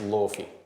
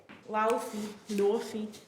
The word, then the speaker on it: Laufey: No, it's pronounced Laufey. Laufey.